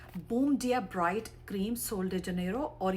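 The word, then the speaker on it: Sol de Janeiro: अगर स्पेनिश में करेंगे तो एच का साउंड आएगा और इंग्लिश में करेंगे तो जे का आएगा।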